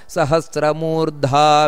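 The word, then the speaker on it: सहस्रमूर्धा: ನಾನು ಬಿಡಿಸಿ ಹೇಳ್ತಾ ಇರುವಂತದ್ದು ಸಹಸ್ರ ಮೂರ್ಧ ಅಂತ ದೀರ್ಘ ಇದೆ ಮಹಾಪ್ರಾಣ ಇದೆ ವಿಶ್ವಾತ್ಮ ಅದು ಕೂಡ ದೀರ್ಘ ಇದೆ ಅದಕ್ಕೋಸ್ಕರ ಸಹಸ್ರ ಮೂರ್ಧ ವಿಶ್ವಾತ್ಮ ಸಹಸ್ರಮ ಮೂರ್ಧ ವಿಶ್ವಾತ್ಮ ಇಷ್ಟೇ ಅಲ್ಲ ಸಹಸ್ರಮ ಮೂರ್ಧ ವಿಶ್ವಾತ್ಮ ಸಹಸ್ರಾಕ್ಷ ಸಹಸ್ರಪಾತ್ ಇಷ್ಟು ಸ್ಪಷ್ಟವಾಗಿ ಉಚ್ಚಾರಣೆಯನ್ನು ಮಾಡಬೇಕು ಮಹಾಪ್ರಾಣ ಇದು ವಿಷ್ಣು ಸಹಸ್ರನಾಮವನ್ನು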